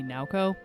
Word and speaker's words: Naoko: By the way, if you know anything about Japanese pronunciation, I realize I am saying Naoko wrong. It should be Naoko.